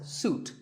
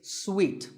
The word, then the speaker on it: suite: in a hotel and this is wrongly pronounced by many people as suit but it's sweet like when you eat a piece of candy sweet and while we're on